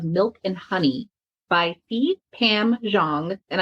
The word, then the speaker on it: Zhang: I just finished a really wonderful book called The Land of Milk and Honey by Pam Zhang, and I may have butchered her name a little bit, but it's Zhang.